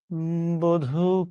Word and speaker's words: বধু: কোন আলো লাগলো চোখে আপনি যখন আপনার লক্ষ্মী বউরে ডাকছেন বধু বলে উচ্চারণটা আপনি কিভাবে করছেন? বধু আপনাদের তো এখন বউ হয়নি দরকারও নাই। এখন যেসব ঝামেলা বাদ। এই বধু বানানে বয় ওকার আসবে। এখানে দেখেন নাই। তার মানে এটা ভুল। ঠিক আছে?